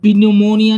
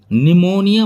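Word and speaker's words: pneumonia: है जैसे की निमोनिया निमोनिया यानी pinumonia नहीं बोलते निमोनिया बोलते हैं एन से पहले पी है यह साइलेंट रहेगी तो इसमें बोलेंगे निमोनिया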